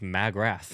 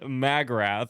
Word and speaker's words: Magrath: And I was like, no, I think it's pronounced Magrath. Yeah. McGrath. Magrath. Magrath. AKA Liz? I didn't find out till like an hour ago. Anyway, Magrath.